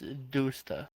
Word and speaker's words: Dusta: most people that see my name read Dust and then the A, but the correct way to pronounce it is Doosta. I think it sounds really cool as Doosta, but like I feel like people just going by the English standard of how English is weird and we all hate it. It's pronounced Dusta in English of how we hate English so much.